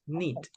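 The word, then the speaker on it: knit: okay yes nit yes letter K is mute okay we don't pronounce letter K just neit okay pretty good okay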